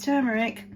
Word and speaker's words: turmeric: that's because I use turmeric um turmeric or turmeric I feel like it should be turmeric I think people pronounce